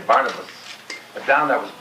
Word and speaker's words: Barnabas: You know here with the most of the people in in this company in English would say Barnabas but down there was Barnabas and that was exactly the whole style of love this drooro.